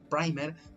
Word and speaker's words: primer: Obligatoriamente requiere de un pequeño segmento llamado el primer, bueno, en inglés es la palabra, tenemos que pronunciarlo primer, o también conocido como cebador.